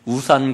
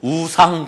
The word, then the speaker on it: 우상: 제 발음이 이게 잘 안 되는데 우산 공장이 아니고 우상 공장입니다. 우상 공장.